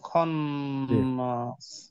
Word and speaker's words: الخناس: وص و seal জি, খন্নাস খটা মোটা উচ্চারণ হবে, আর নুনে তাসদিদ গুণা হবে, এটা আমরা আগে পড়েছি।